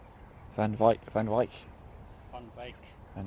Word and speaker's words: van Wyk: member of jamie van i've been calling jamie van wick i believe i'm saying it wrong so thank you claudia jamie van wyk mike is that right claudia can you comment but i'm saying that right jamie van wyk van wyk van vike van wyk fun fake